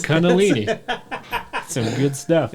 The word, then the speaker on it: Kundalini: section with something called Kundalini energy kuntalini energy kuntalini sorry what'd you say Kundalini energy yes it's Kundalini some good stuff it's